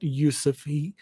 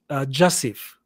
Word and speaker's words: Jasif: It's not Yusuf. It's actually, phonetically, it's pronounced Jasif, J-A-S-I-F.